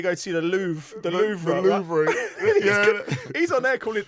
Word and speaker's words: Louvre: It's spelled Louvre though, isn't it? It's Louvre. So mate, I'm English. I'm with Carlton. I'm not going to go try and spice it up and put Louvre or whatever it is.